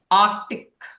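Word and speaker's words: Arctic: strength end ऑफ द आर्टिक आर्टिक इट इज आर्कटिक आर्टिक आर्टिक आर्टिक इसमें सी silent होता है okay आर्टिकलबियस are powerful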